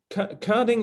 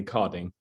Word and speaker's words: Körding: i pronounce it as chording yeah coding is the german pronunciation but all americans call me codding okay wonderful um so